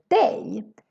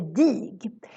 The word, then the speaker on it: dig: say lar and not and then we have the word day this one is a bit tricky because if you read it you maybe want to say dig maybe we used to